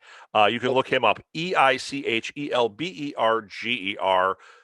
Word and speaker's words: Eichelberger: And then it's Eric Eichelberger. I said it right. You can look him up, Eichelberger.